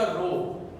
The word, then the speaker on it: rho: ये नाम है इसका रो। बोला जो इसको जा रहा है, प्रोनाउंसिएशन जो है वो रो है, RHO रो।